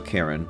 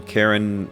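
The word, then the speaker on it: Charon: name was karen right but the name of the boatman for the underworld is also karen but it's spelled c-h-a-r-o-n and um i'm pretty sure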